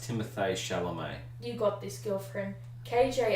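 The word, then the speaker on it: Timothée Chalamet: actor at the moment Timothy Cal apologizing for miss pants I think it's pronounced Timothy's chelomei you got this girlfriend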